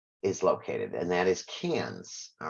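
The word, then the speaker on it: Cairns: Great Barrier Reef is located and that is cans all right and it is pronounced cans not currency our Asylum and of course we'll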